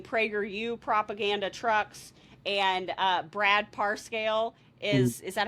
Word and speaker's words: Parscale: tax dollars funding PragerU propaganda trucks, and Brad Parscale is that how you say his name?